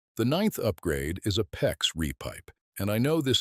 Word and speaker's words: PEX: PEX, which stands for cross-linked polyethylene, say it PEX rhymes with flex, is the modern solution.